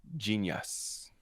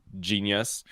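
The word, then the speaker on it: Jeen-yuhs: part of his docu-series genius on netflix and it's spelled j-e-e-n-y-u-h-s first of all genius move smart move i like it i'm sorry that's just saying genius and you spell it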